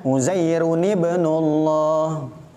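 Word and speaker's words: عُزَيْرٌ ٱبْنُ ٱللَّهِ: uzairun ibnullah cara bacanya uzairun ibnullah dan masih banyak lagi intinya ketika tanwin bertemu dengan Hamzah wasal maka tanwinnya diganti menjadi Nun yang berharakat kasrah dia menjadi huruf biasa bukan tanwin Nuhun jadi nuhu ibnahu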